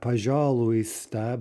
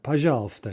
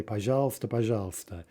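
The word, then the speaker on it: пожалуйста: letters dropped out right not pajar luista but uh pajalsta as you probably know we simply say pageals and you can imagine why that happened right it's a very common word very common expression and it's much easier to say pajalsta than pajar luista right okay let's look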